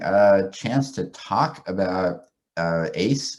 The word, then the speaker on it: AACSE: chance to talk about ace is how i pronounce it last amphibious community seismic